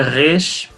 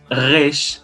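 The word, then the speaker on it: ריש: Então, a letra Resh, ela é pronunciada com a garganta, é um R bem diferente, Resh.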